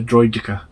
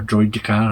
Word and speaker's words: Droideka: Next one is 75381, the Droideka. Or Droidekar, however you want to pronounce it.